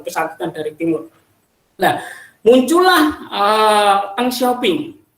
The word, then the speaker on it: Deng Xiaoping: Nah, muncullah Deng Xiaoping atau Deng Xiaoping kalau tulisan ininya, itu bacanya Deng Xiaoping.